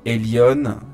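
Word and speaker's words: Elyon: Euh, j'aimerais faire une petite digression finale ici sur une secte catholique qui s'appelle la secte de frère Elion, c'est-à-dire Lionnel loison. Frère Elion, ça s'écrit E L Y O N qui se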